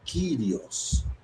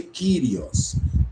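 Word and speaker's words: κύριος: Porque senhor é uma palavrinha grega chamada kirios, que ela que tá aqui o o trecho grego é essa esse pedacinho aqui. Curio, curio, tá vendo? Pronuncia Krios. Kirios.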